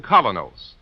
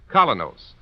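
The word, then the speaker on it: Kolynos: is start cleaning your teeth with the new Colonos, a high polishing toothpaste.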